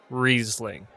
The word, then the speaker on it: Riesling: It's pronounced Riesling.